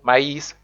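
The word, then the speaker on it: maïs: soul which is soul or myes which means maize and the last is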